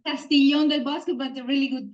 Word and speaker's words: Castiglion: Our Guest today is Selena ptalis Hospitality at castillion debasco did I pronounce all that okay yeah it's castillon but a really good pronounce yeah and